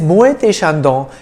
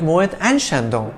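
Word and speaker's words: Moët & Chandon: business one more thing e.t pronounced a is the french word for and hence muay thai is the proper french way of saying it however you may also choose to call it moet and shandong by the way this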